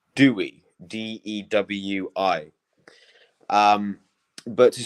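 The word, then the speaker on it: Dewi: you know female name Ina Dewey is how that's spelled so there's a Welsh name called Dewey d-e-w-i um but to say I am is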